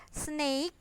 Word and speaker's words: snake: juraf Jaf itu jerapah Snake bukan snack ya kalau snack itu makanan ringan kalau ini snake snake ular monkey monyet tiger